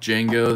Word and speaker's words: Django: or the anthem like Django the D is silent de Django all right we'll put